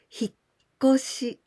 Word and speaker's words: 引っ越し: But sometimes we can omit this small tsu and 引っ越し, but still the pronunciation is the same with tsu, 引っ越し. And also, there's a case without tsu and without shi and 引っ越し. So there are three ways, but the pronunciation is always 引っ越し.